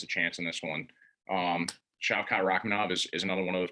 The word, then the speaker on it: Shavkat Rakhmonov: Yep, Shavkat Rakhmonov.